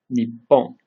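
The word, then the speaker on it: にっぽん: So we have bikkuri, kissu, natto, nippon. And it may not seem like a big deal, but getting the pause in is very important because you might inadvertently say a different word, or someone might not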